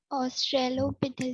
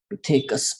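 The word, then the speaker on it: Australopithecus: ऑस्ट्रेलोपिथेकस। ऑस्ट्रेलोपिथिकस, इट्स ऑस्ट्रेलोपिथिकस, पिथेकस पिथेकस पिथेकस है ना, okay. यहाँ पे ये पिथेकस है ना, पिथेकस, okay. Now that is what actually इसका प्रोनाउंसिएशन पिथेकस है।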